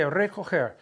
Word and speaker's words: recoger: Okay, recoger. We're learning that the G has a hard G and a soft G. So when you say recoger, that's a soft G sound.